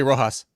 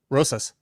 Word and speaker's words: Rosas: You say Rojas. How am I supposed to say it? Rosas. Oh, Raul Rosas Jr.